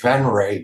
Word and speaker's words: Venrez: and kind of like it you know it's pronounced ven but it's spelled venes v NR e z